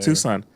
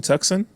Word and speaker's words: Tucson: She brought up Tucson. They're like, "Oh, are we passing Tucson?" Tucson.